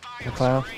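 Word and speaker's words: MacLeod: Like Kevin McLeod, whatever his name is. McLeod. McLeod, what's that? That's how you pronounce that stupid name.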